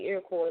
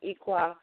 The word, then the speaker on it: Iroquois: And had forgotten that we taught the modern Europeans these sacred or secrets of the universe in the Iroquois, people say Iroquois, but it's pronounced Iroquois, longhouses or lodges right here on this land.